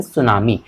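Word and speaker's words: tsunami: सुनामी अरे नहीं रहती सुनामी नहीं है कि यहां पर साइलेंट है यह सिर्फ सुनामी है रिमाइंड करना प्लीज लाइक सुनामी तिल बहुत बढ़िया अभी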